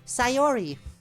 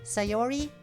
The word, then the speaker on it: Sayori: right it's not really an eye in there it's more like an R sound and then goes into the yellow sound sayori sayori and you have to do the Japanese sound for the last syllable which isn't really an R we have to learn